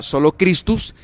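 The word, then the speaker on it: solus Christus: Pero más adelante se comenzaron a desarrollar y a añadir las otras 2, lo que son solo Cristo, que en latín se pronuncia solo Christus, y solo a Dios la gloria, ¿verdad?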